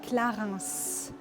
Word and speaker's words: Clarins: And pronunciation-wise, you say Clarins.